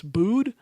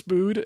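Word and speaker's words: Buud: her, and that's Jonas Boud. I think that's how you say his name, B-U-U-D, I think, Boud.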